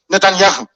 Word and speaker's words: Netanyahu: The Prime Minister of Israel, Benjamin, that's the correct pronunciation, Netanyahu, is seeing the son off into the military.